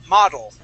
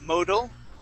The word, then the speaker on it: model: Yeah, and that would be model. Okay, one more time. Model. There you go. That's it. Model. Okay. Model. Yeah, so that O is not pronounced as an O. We don't say modal, okay?